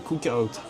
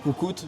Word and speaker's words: cookout: Au cowboy cookout. On entend trop de gens dire coucout.